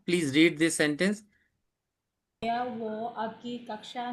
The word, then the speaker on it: वो: No, this waha is completely wrong pronunciation of wo or वह.